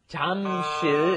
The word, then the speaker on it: Jamsil: Notice it's not spelled Jamsil, it's Jamsil is the spelling, but the pronunciation, of course, is right in between that J and that CH, isn't it? Jamsil, right?